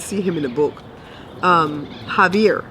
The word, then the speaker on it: Xavier: Javier, and it's spelled with an X, not with a J. Not with a J like the Mexican version is like the South American version. Javier, like the Brazilian version of it.